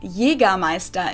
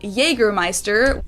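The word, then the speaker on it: Jägermeister: shoes to alcohol yeah this is pronounced yiga maesta in german english speakers usually say jaegermeister jagermeister yeah that's true jagermeister is pretty much the same just with a pretty thick accent and people also often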